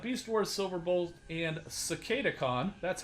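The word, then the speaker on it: Cicadacon: so we got beast wars silver bulls and cicada khan that's how you pronounce it some other people have trouble pronouncing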